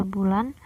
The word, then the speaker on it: boelan: Ciri dari ejaan ini adalah penggunaan huruf J yang dibaca Y, contohnya jang yang dibaca yang, OE dibaca U, boelan dibaca bulan, huruf TJ dibaca C, huruf CH dibaca KH, dan huruf DJ yang dibaca J.